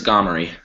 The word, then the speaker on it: Gomery: So am I pronouncing your name correctly? It's Gomery. Gomery.